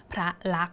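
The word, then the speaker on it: พระลักษณ์: ตัว การันต์ นะ คะ ดัง นั้น เรา นะ คะ ก็ จะ ไม่ อ่าน ออก เสียง สอน ฤาษี ม ม้า แล้ว ก็ นอน เณร นั่น เอง ค่ะ คำ ๆ นี้ ก็ เลย อ่าน เพียง แค่ พระ ลักษณ์ นะ คะ ถึง ตัว สะกด ก ไก่ เท่า นั้น นะ คะ คำ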